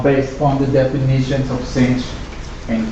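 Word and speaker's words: sinh: and kosich yeah actually the pronunciation for yes so it's cinch coach stench those are easy to pronounce but when it comes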